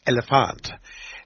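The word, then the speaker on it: Elliphant: rapper from Sweden and her name is elephant and that's how you're supposed to pronounce it it's elephant and and I said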